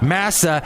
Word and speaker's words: Massa: And this guy I work with, Massa, shout out to Massa. His name rhymes with NASA.